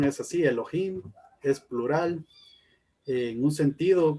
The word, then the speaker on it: Elohim: se llama elohim y aquí nos dice la pronunciación es así elohim es plural en un sentido como una definición